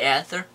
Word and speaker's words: Aether: It's the Aether. The Ether. That's what they called it. It's A silent.